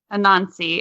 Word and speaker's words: Anansi: Anansi.